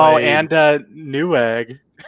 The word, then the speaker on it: Newegg: Who who uses New Eegg. When was the last time we bought something off? New egg. Couldn't even say it right. He didn't even call it Newegg.